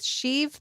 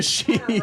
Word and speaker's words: Sheev: Which one sounds like a Kinda Sheev? rhymes with Steve.